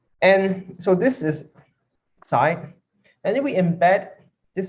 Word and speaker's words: psi: the y that we sorry it's not far right mispronounced it's PSI this one is PSI so um there is